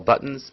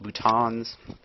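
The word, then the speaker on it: boutons: Neurotransmitters are released from the terminal branches or terminal buttons. Some people pronounce that bhutons. It's buttons to me.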